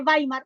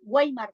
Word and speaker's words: Weimar: pero les voy a decir la República de bimar weimar se escribe con w w e i m a r bimar la República de baar